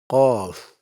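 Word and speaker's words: ق: Qaf has a heavy sound. So raise the back of your tongue when you pronounce it. And kaf has a lighter sound. The tongue stays more forward compared to qaf.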